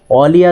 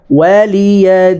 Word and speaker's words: ولي: لكم دينكم ولي دين ওয়ালিয়া যেন না হয় ওয়া ঠোঁটটা গোল করে বলবেন ওয়ালিয়া দিন ولي دين لكم دينكم ولي دين لكم دينكم ولي دين লাকুম দীনুকুম ওয়ালিয়াদিন।